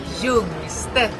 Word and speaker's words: Jungstedt: Primero mi apellido, Jungstedt. Se dice Jungstedt.